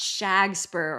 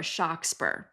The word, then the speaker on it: Shakespeare: Okay, yes, there was a man from Stratford-upon-Avon named William Shakespeare, although it might have been pronounced Shagspur or Shockspur. You can see the various